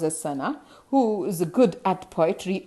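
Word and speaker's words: Sanne: My friend Sana, this is pronounced as Sana, who is good at poetry, offered me help to write the essay from the beginning to the end in verse.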